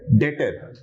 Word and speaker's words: debtor: अल्फाज जो है इसके वो है DEBTOR, लेकिन जो बी है वो साइलेंट है।